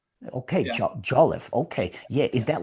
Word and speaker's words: Jolliffe: That doesn't really make sense, but it's pronounced Jolif. At least that's how I say it. Okay. Jolif.